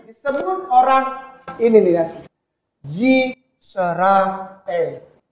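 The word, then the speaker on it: ישראל: Yisrael. Ini bacanya Yisrael. Kenapa Ustadz kayak pisah-pisah? Yisrael. Karena Israel itu artinya ada.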